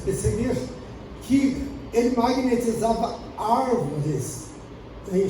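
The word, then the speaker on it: Puységur: Havia, inclusive, um grande médico dessa área, chamado Marquês de Pessaguir, escreve Pessegur, mas pronuncia Pesseguir, que ele magnetizava árvores em Campos Elíseos, no Campos Elíseos, onde as pessoas abraçavam essas árvores e eram beneficiadas.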